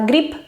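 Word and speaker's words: гриб: curiosos como por ejemplo la palabra gripe que significa seta y se escribe con b se pronuncia igual que el clip que significa gripe y diréis y porque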